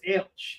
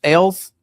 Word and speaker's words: Ailes: But you would never think his name was Ailsh. You know what I mean? Like the way it's spelled, you're pronouncing it right. mm-hmm. Yeah. Alice, Ailes, Alice, mm-hmm. but Ailsh.